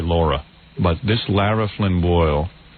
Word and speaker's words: Laura: She this Lara Flynn Bole, they say her name is Lara. It's really Laura, but this Lara Flynn Bole, the one from um Twin Peace, right?